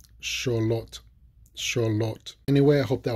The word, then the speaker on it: Xolotl: So I'm going to pronounce them. Axolotl, Axolotl, Axolotl, Xolotl, Xolotl, Xolotl.